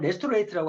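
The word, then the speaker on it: Restorate: 이제 편안한 휴식을 준다 리스트레이트가 미국 발음을 레스토레이트라고 하는 레스토레이트 레스트가 뭐예요 휴식이죠 그러한 제품인데 미술레이트는 말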